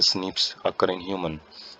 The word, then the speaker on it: SNPs: Polymorphism बोला जाता है, pronounce as स्निप्स occur in human.